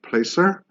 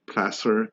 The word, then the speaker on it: Placer: not from the area a lot of people pronounce it Placer so that's one way for us locals to